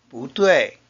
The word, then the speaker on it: 不對: 不 followed by these words changes to a second tone. 不对，不是。For example, 不对 and 不是。Let's practice these sentences.